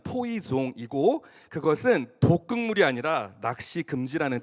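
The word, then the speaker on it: poisson: 그 푯말에 쓰여져 있는 포이즌은 영어로는 포이즌이라고 읽을 수 있지만 프랑스어로 읽으면 포이종이고 그것은 독극물이 아니라 낚시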